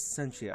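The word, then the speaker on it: Scientia: My name is Sentia. I always forget if it's a hard C or a soft C. Mm-hmm. My name is Sentia.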